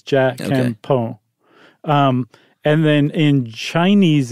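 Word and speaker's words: じゃんけんぽん: So apparently you just barely pronounce the N on the Jan and the Pon. So it's Jakepo.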